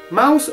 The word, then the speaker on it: Maus: stato pubblicato dai naudi mouse vuol dire Topo ma la parola non è inglese è tedesca stessa pronuncia ma spelling differente il fumetto ha avuto